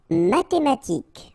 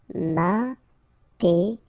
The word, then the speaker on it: mathématique: Mathématique. Remember, H doesn't exist, so mathématique. Remember, Q-U-E at the end, K. Mathématique. Médical.